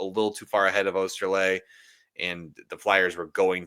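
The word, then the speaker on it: Oesterle: A little surprised, like Jordan Osterley, I think is how his name is pronounced.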